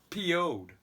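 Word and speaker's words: Pioughd: But actually what they said, it's PO'd. That's how you pronounce it.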